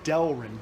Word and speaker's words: Delrin: show you the progress I need to make a correction I just look back at the note this is pronounced Delrin de el Rin it reminds me more of a UHMW than an HDPE because it's very hard so now